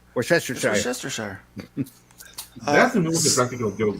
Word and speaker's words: Worcestershire: Nobody can still pronounce Worcestershire right anyway. Yeah. Worcestershire. Worcestershire.